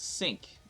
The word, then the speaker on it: Cinq: like five uh but because she's French the French people uh pronounce it as sync uh so you know